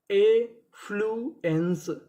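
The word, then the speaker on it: affluence: यहां पे हमारा एफ हमारा दो बार लिखा है। और आपको पता है कि उच्चारण कितनी बार करना है? एक बार। और आगे लिखा है इ एन सी ई। इसे क्या पढ़ते हम लोग? एंस। तो हमारी मीनिंग क्या बनी? ए फ्लुएंस एफ्लुएंस एफ्लुएंस एफ्लुएंस का मतलब होता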